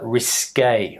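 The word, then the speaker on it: risqué: that Contex in in that context but the pronunciation is risque risque the next one is FAA FAA faar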